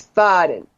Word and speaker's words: Faden: kind of quartz, and it's called a Faden, Faaden, and it's pronounced like there's an umlaut over the A, so it's Faden.